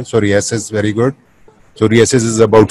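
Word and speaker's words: Psoriasis: सोरियासिस, very good. सोरियासिस is about skin, PSORA, हाँ POS नहीं, PSO से लिखते हैं, पी साइलेंट है.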